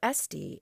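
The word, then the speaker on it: ἔστι: If you see the third person singular with a recessive accent, with an accent on the epsilon, esten or esti instead of esti, then it means something a little bit different. It means there is, or it is possible.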